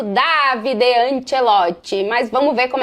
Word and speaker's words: Davide Ancelotti: É assim mesmo que se pronuncia em italiano, Davide Anchelote.